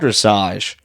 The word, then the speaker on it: dressage: beginner show what's it called which is called dressage how do you say that dressage dressage with